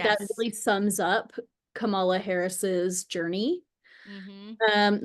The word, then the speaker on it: Kamala: a thing about her name getting mispronounced, and I always thought it was Kamala, like Pamela, Mhm. but it's not. It's Mhm. Kamala, which I didn't, Kamala.